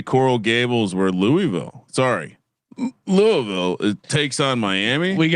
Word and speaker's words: Louisville: I've been told I've been thanked for my accurate pronunciation of the city of Louisville.